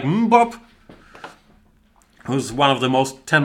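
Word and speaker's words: Mbappé: And Kimat is saying, pronounce it Mbappe. I refuse to do that, Kimat. To me, it is pronounced Mbop, like in the Hanson song that we all grew up with, because we're all old men here.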